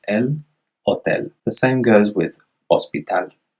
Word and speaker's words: hospital: The same goes with hospital. Another example of that silent H.